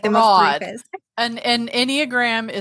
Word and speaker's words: Enneagram: explain an Enneagram? Is that how you say it, right? Yep. Enneagram?